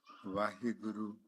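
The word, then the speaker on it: Waheguru: These letters, they are arranged in such a way that when they are pronounced, they create vibrations within us which synchronize with the universal vibrations. It's Vaheguru.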